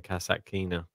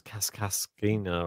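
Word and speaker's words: Kasatkina: even need to see i'm just going kassackina i finally pronounced their name right for the first time ever how did you used to say it uh i don't know it's kaskaskina or something i was like cassatt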